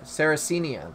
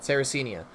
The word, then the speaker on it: Sarracenia: secare Karianna that it yeah Sarah oh no sarracenia that's how you say it sarracenia so that's the type of pitcher plant that